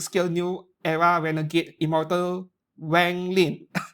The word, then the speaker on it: Wang Lin: Now it is in Hobby Link Japan by PJ Studio, 1:6 scale, new era renegade immortal Wang Lin. It's Wang Lin, but the English speakers pronounce it as Wang.